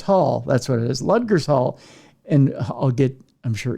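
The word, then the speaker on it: Ludgershall: or no ludgers Hall that's what it is ludgers Hall and I'll get I'm sure emails on my pronunciation in Wiltshire England while there he ran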